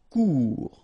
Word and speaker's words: court: Court. Final T not pronounced. Court. Remember, when you combine this O and U together, you get the sound OU.